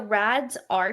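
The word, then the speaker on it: RAADS-R: Yeah, so it's called the RADS R test. So it's spelled RAADS Okay. and then dash R.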